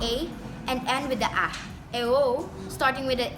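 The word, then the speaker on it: æ: AE called ash is not in use today, pronounced AE as in modern English cat.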